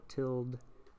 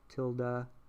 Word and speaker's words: tilde: tilled at the top some people call it tild tilda tilde it's all the same people just pronounce it differently that people don't talk